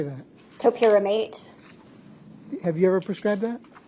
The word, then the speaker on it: topiramate: Was she prescribed TORPIRAMAATE? Yes. How do you say that? Topiramate.